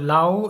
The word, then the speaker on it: Laos: Lao in Southeast Asia yes it's called Lao the S is silent Buddhism is a big